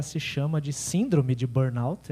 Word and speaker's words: burnout: Eu achei que era síndrome de Burnô, primeira vez que eu li, né? Não sabia que era inglês. Eh, é uma expressão inglês, né? O a pronúncia, eu não sei inglês, mas sei até ali, né? A pronúncia que dizem é burnout, né?